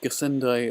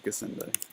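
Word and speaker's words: Gassendi: a travesty or pronunciation don't they g-a-s-s-e-n-d-i how would that be anything other than gesente anyway gasundo if you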